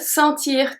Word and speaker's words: sent: When the first one, we don't pronounce the T or we don't pronounce anything at the end.